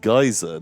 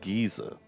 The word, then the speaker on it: geyser: birthday boy lives hints we have a very famous geezer pronounced geyser not geezer ffs for